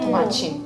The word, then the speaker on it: Tomate: I don't pronounce the T as T. I pronounce it as che. Oh. Tomate.